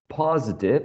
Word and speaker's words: positive: last word was positive positive has three syllables and the first one is the most prominent or the stressed syllable in this word okay so um who's